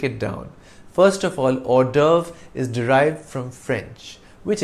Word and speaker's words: hors d'oeuvre: And though the V precedes the R in the spelling, we pronounce it in the reverse order, RV.